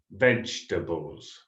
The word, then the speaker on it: vegetables: then some vegetables and another common pronunciation error with this word in english remember vegetables vegetables okay three syllables next is the fruit